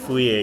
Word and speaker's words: Fourier: Fourier-nya ini namanya meskipun tulisannya Fourier, dia tuh dibacanya Fourier karena kalau nggak salah dia orang Prancis gitu ya. Makanya dia jadi dibaca kayak Fourier gitu ya, kayak gitulah.